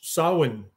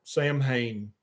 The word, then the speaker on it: Samhain: yeah yeah decline decline declan says that i pronounced sawin properly for the first couple of years i knew about it decline i i called it samhain i didn't i was i was an idiot